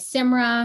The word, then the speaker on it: Simra: always joke that uh it's pronounced like simba from lion king instead of a b it's with an r so you can be